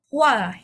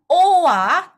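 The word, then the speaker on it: 와: Kalau O dan A digabung itu bacanya wa ya teman-teman. Wa oke bukan o wa tapi wa. Mungkin ee biar lebih cepat hafalinnya yaitu coba ee sebutan sebutkan atau baca oa secara bersamaan secara cepat. Oa oa oa lama-lama kan jadi wa.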